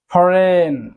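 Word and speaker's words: foreign: সো এটি কিন্তু একটি নিয়ম, যখনই জি এর পর এন আসবে তখনই কিন্তু জি এর উচ্চারণটি আর হবে না।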